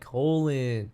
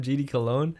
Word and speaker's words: Colon: Oh, his name is pronounced like the body part, by the way. Oh, like Colin. It's a meme now because people call him GD Cologne.